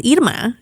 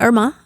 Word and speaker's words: Idma: her name right and her name is Idma is not Irma you know and so